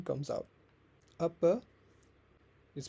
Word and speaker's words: apa: The last vowel often becomes a softer schwa. So apa becomes apa.